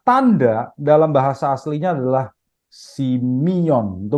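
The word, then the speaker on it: σημεῖον: Di sini kata tanda dalam bahasa aslinya adalah simion. Itu bacanya ya, simion.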